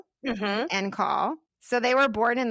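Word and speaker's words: en caul: and my third baby, they were both born in call, which is spelled E N C A U L. N call.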